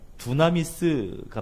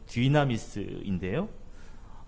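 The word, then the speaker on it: δύναμις: 두나미스가 바로 권능입니다. 원래 발음은 디나미스인데요.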